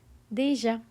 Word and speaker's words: déjà: It's pronounced as déjà, déjà. The acute accent makes a sharp D, and the J makes that soft je sound, right?